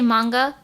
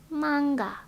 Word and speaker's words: manga: hi bu F yes I think it's weird if I say Monga my mom will be like do you mean manga no I don't mean that mother the correct pronunciation in Japan is manga manga no mother I